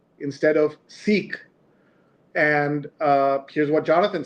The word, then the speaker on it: Sikh: So the discussion has been many folks who follow the religion have asked us to say Sikh instead of Sikh. And here's what Jonathan says. I've heard of the preferred pronunciation as Sikh before, but doesn't seem to have reached critical mass yet.